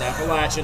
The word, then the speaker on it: Appalachian: Rebel let me hear about Appalachian State it's Appalachian if you don't say it say it right